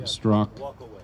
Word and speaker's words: Straka: So does anybody know Brandon Strzok? His last name is spelled Straka, S-T-R-A-K-A, but it's pronounced Strzok.